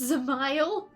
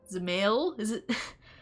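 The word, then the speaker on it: Dzemael: It's pronounced Zamail? What's the D for?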